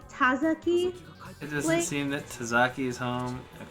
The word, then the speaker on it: Tazaki: Tazaki's apartment.